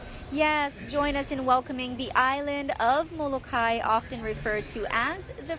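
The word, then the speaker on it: Molokaʻi: Is it Molokai or is it Molokai? Okay, so my reason for always pronouncing it Molokai, and I've had people try to correct me, my father-in-law is born and raised on Molokai in Halava Valley there, and he always told me it's Molokai.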